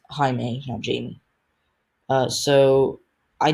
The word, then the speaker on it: Jaime: a very strong opponent it's not jamie by the way because it's spelled j-a-i-n-e it's jaime now jamie uh so